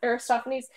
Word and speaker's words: Aristophanes: say it I listen Lysistrata and it's by Aristophanes I looked it up I look to it Aristophanes this is an Amazon classic it just came